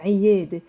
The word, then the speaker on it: عيادة: It's 3 syllables and it has the عين. عيادة.